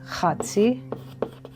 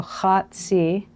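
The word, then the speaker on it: חֲצִי: So, in the midst of the week, the word for midst is chatzi. That's chet, sade, and yod. So chatzi.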